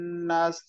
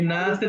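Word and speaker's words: ناس: কুল আউজুবি রব্বিন নাস এই নাসের টান হবে নাস কুল আউজুবি রব্বি নাস মালিকিন্নাস ইলাহি নাসন শেষের যে না গুলো আছে এগুলোতে সবগুলোতে টান হবে হ্যাঁ নাস নাস এভাবে সব সেন্টেন্সের শেষের সব নুন গুলাতেই টান হবে এই সূরা হ্যাঁ থ্যাংক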